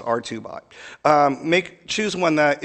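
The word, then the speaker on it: Hubot: I know this uh looks like it says herbot I'm told it's pronounced rbot um make choose one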